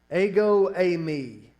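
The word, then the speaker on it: ἐγώ εἰμι: Greek it's this unusual construction that's pronounced ago Amy and that's the phrase that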